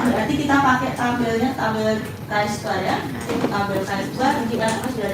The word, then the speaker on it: chi-square: Bacanya tulisannya chi-square ya, tetapi bacanya chi-square. Jadi X-nya itu X cantik kalau orang matematik bilang.